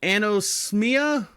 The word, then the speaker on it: anosmia: Lot of loss of smell, known as anosmia.